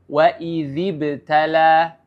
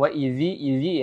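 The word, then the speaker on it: وَإِذِ ابْتَلَىٰ: memunculkan huruf dalal itu seperti contoh waidbtala waziibtala ya jadi dikeluarkan sedikit waidziibtala ya Jadi tidak dikurakkan terlalu banyak bukan waidzi idzi ya waidib sedikit ya dan juga bukan waidib Ya beda Bukan beda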